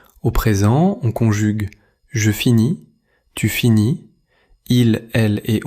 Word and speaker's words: finis: Dans je finis, tu finis et il finit, les lettres finales S ou T ne se prononcent généralement pas.